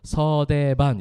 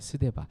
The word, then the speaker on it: 스데반: 서대반 이렇게 하죠. 서대반이 아니고 스데반. 목사님 발음이 잘 돼요, 그죠? 스데반이에요, 스데반.